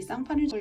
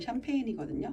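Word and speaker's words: Champagne: 이 쌍파뉴를 영어로 발음하면 샴페인이거든요.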